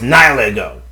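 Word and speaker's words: Nihilego: ny ego fought against it's pronounced nyl that's why it's pronounced ngo okay all right fought against IO and Seline Wait, wait, wait, wait, wait, wait, wait.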